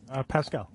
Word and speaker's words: Pascal: Pascal or Pascal? Pascal. Pascal, that's right.